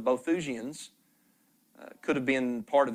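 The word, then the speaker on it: Boethusians: ancient group called The I believe it's pronounced the bothusians could have been part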